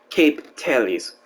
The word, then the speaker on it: Capitals: The theory became a religion when the Capertidi of Dostin coined the phrase Capitals, pronounced Cape Tales.